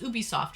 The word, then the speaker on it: Ubisoft: Ubisoft. I'm just with you. Oh, that's But it is pronounced Ubisoft, right?